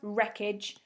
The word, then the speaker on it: wreckage: and number seven was wreckage another sign w so w r e c k a g e so green group if